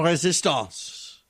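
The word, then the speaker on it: Résistance: Stephen Colbert has become the comedian of La Resistance. And I pronounce it in French because they keep surrendering even if they don't want to.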